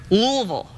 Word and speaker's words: Louisville: You can't say Louisville. You got to say ah. Exactly. Say it again. Louisville.